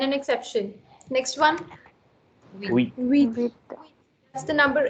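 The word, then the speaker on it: huit: So you're not pronouncing the H as usual, but also you are pronouncing the T sound here, which is generally not pronounced, right? So the T is kept silent.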